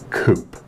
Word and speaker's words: coupe: It's pronounced coupe. Oh yeah. What do you eat when you're sick? Soup. Oh yeah. Is there an E in soup? No, but the word has French origin.